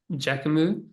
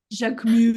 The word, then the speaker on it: Jacquemus: Jacquemus. Jacquemus. Do we have French people here? That'll make it work. Say it out loud. Say it out loud. I will try to repeat it after you. Jacquemus.